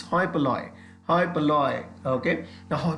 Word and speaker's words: hoi polloi: नो, पह में एच का प्रोनाउंसिएशन नहीं होगा, सो इट्स हॉय पलॉय. इट्स नॉट होय पलोई, इट्स हॉय पलॉय. हॉय पलॉय, एच साइलेंट रहता है, ध्यान रखिएगा.